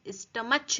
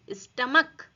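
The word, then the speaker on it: stomach: जैसे स्टमक, यहाँ पर हम स्टमच नहीं बोलेंगे, स्टमक। ये CH का प्रोनाउंसिएशन क्या हो रहा है, क।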